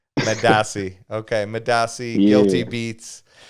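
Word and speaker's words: Medaase: Medasi. Madasi.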